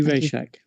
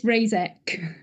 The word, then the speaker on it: Razek: um in sessions uh raycheck paycheck i'm sorry i have not mispronouncing your name that's pretty good it's razek thank you and most